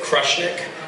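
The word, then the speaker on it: Krushnic: So we pronounce it Krushnik.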